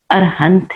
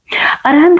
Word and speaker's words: अरहंत: है वह अरहंत है अरहंत को कई लोग उच्चारण भेद से अरिहंत भी कहते हैं किंतु मूल शास्त्र पाठ एवं प्राचीन शिलालेखों में सर्वत्र अरहंत पद ही मिलता है न कि अरिहंतानम